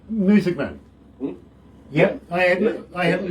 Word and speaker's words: Muessigmann: Muessigmann. Yep, I haven't mispronounced that in any way.